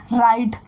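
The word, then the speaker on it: write: हैं नेक्स्ट हमारा है राइट राइट मीन होता है लिखना राइट मीन क्या होता है लिखना इसमें डब्लू जो है वो हमारा साइलेंट है इसे क्या पढ़ते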